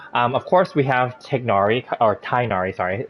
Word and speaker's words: Tighnari: of course we have tagnari or tainari sorry it's um i i learned that from his uh teaser that's how they pronounce his name tainari not tignori anyway tainari i'm gonna